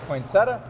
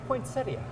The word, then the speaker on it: poinsettia: tomahto some people say poinsettia some people say points idiot poinsettia is the proper pronunciation oh my gosh I